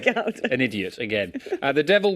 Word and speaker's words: Gouda: Now, how do you say the cheese Gouda? You Gouda or a Gouda? Anyone? I think I'm a Gouda. I'm a Gouda, yeah. I just wanted to check I wasn't going to sound I'm a like Gouda.